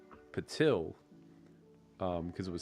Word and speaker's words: Patil: How would you No, pronounce his name is Patil. He's even gone so far as correcting Chin. No, he tunes into every stream. And every stream I call him Patel.